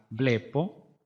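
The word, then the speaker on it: βλέπω: singular es la o se trans litera bpo se pronuncia bpo su traducción es veo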